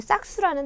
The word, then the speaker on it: 싹수: 지금 발음 어떻게 했죠 싹수 얘기했죠 자 근데 뒤에 싹수 해서 절대로 된 소리로 소리 내셔도 안 되고 표기도 그렇게 하시면 안 돼요 아시겠죠 싹 수라고 렇게 하셔야 되겠죠 자 그다음 이제 이응을